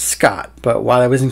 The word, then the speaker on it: Skaght: And number 5, Eagle Eye viewers will notice that I sign my artworks SKAGHT. It's still pronounced Scott, but while I was in college, a friend of mine would email each other.